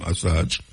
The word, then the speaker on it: Assange: Julian Assange, I saw him pronounce his name, Assange.